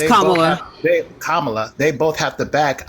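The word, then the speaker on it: Kamala: Ironclad on both sides whether it's Trump or Camala it's kamla they both have to back Ironclad and you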